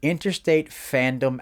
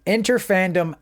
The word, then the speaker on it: Interfandom: But that afternoon, we did the Interstate Fandom Alchemist exam. The Interfandom Alchemist exam. That's how you say it.